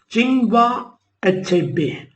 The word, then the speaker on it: Chinua Achebe: Chinua Achebe, pronounced it as Chinua Achebe.